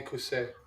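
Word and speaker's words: Quay: Yes, you can call me Kus. Kus. Kus. Kus. If you want to spell it, it's qu A Y.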